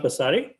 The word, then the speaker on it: Pasari: Very good afternoon to all my name is pronounced passare.